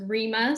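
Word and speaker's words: Rima: please good afternoon judge laick my name is Rema Rema is spelled r i m a is spelled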